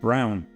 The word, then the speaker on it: Braun: And they reached out to the Metro's original designer, Mark Braun, or as he's German, I guess it's pronounced Brown, to create this unique pair.